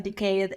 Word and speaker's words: decade: then for 10 years syllable stress decade decade decade no syllable stress on the first one deade I've spent in